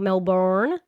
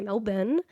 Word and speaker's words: Melbourne: We say it like that, not Melbourne. We say Melbourne.